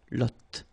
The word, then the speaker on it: lotte: And then la lotte, final E, not pronounced, lotte, t, lotte, okay, la lotte, all right?